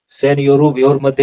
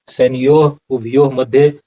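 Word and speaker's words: सेनयोरुभयोर्मध्ये: और इस तरह से यहाँ में देखिए सैन्यो भ्यो मध्य, सैन्योरु भ्योर मध्य, ऐसा उच्चारण नहीं होगा।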